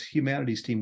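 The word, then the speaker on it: Humanity's Team: mean it's even capitalized the whole thing is pronounced exactly as Humanities team with a why so uh so Neil and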